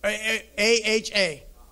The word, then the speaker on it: Aha: I might not be pronouncing why, so I'll spell it. A-H-Y. A-H-A.